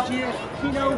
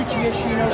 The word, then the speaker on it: Giacchino: Okay, but you know, the truth is, it's Giacchino.